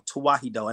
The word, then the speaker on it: Tewahedo: All right, it's not Coptic. It's Tawahido, and I'll spell it out for y'all so y'all can look it up. It's TEWAHEDO.